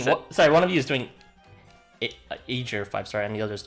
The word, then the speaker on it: Aegir: look at English transliterations, they really say it as in every single way you could say it, from Eager to Aegir to Aegir to. So I just went with the original pronunciation of Aegir.